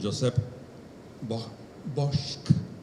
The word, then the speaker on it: Josep Bosch: las gracias al cónsul Josep Bosch, así se pronuncia en catalán, y dar también las